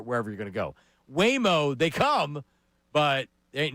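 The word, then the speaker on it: Waymo: Are you in, are you out on something called Whimo?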